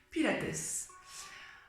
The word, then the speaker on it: Pilates: son fondateur joseph hubertus pile acte tout simplement août selon les origines on raconte prononcer puis lattès moi je fais à